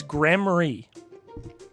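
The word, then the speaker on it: Gramarye: First off, the E is silent, so it's troop. And it's Grammary.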